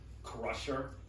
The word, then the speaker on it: Crusher: He says his name is Crusher, pronounced without the R, like Cusher, but then he's like, no, it's Cusher.